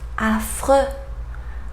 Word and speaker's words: affreux: Let's see examples with final D that we don't pronounce either. Allemand, allemand, grand, grand. Final X, prix, prix. Affreux, affreux, prix, affreux.